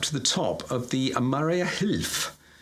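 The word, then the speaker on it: Mariahilf: the top of the Maria Hilf. I think that's how you pronounce it. I think it's Maria Hilf. Oh, Yes. Maria Hilf. Maria Hill. Maria Hilf.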